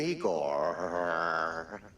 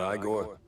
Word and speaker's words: Igor: I'm Igor. Igor, not I gor? No, Igor.